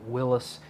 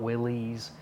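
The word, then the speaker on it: Willys: And yes, I pronounced it Willis and not Willies.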